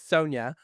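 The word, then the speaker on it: Sonja: And I think I've been saying her name wrong forever. Sonia, it's Sonia.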